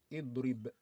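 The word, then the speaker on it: اِضْرِبْ: one we have here, which is pronounced with kesra. Okay, the rule also says that when the third letter appears with kesra, then you pronounce the Hamzatul Wasli with kesra, which means we read the Hamzatul Wasli with kesra. So this one will be read as idrib, idrib, idrib, which means beat.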